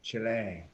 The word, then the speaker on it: Chile: Yes, pronounce it correctly. Chile.